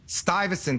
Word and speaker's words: Stuyvesant: How do you pronounce it again? Stuyvesant Town.